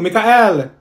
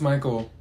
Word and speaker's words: Michael: she's beating rice you mean beatric thank you Mikel ma'am it's Michael okay what about Cho is that you no